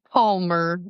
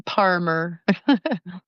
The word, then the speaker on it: Parmer: And remember, Parmer rhymes with farmer, but it starts with a P. So I'm not Palmer, I'm Parmer.